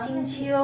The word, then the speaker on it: Xingqiu: Bacanya Kecing. Kucing. Cici. Cici. Gue dengerin orang Xingqiu, bukan Iya.